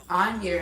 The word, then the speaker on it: Angier: And again, it is 2026 Onier, and that is spelled Angier Avenue.